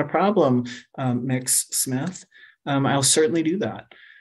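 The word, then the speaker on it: Mx: you all can see it's just pronounced mix mix layout and i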